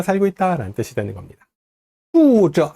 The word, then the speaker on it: 住着: 자, 옆집에는 거비 이어 나온 낱말이 쭈저, 쭈 혀를 살짝 말아 올리고 발음합니다. 저도 역시 권설음이에요. 둘 다 혀를 말고 발음하세요.